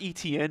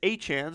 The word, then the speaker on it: Etienne: Apparently it's not Etienne, it's Etienne, so we've been pronouncing that wrong for the last 4 or 5 years, according to himself.